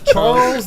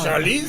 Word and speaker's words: Charlize: Charles Theron. Charlize, have you met?